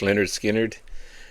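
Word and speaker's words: Lynyrd Skynyrd: This is their debut album, pronounced Leonard Skinnard, pardon me.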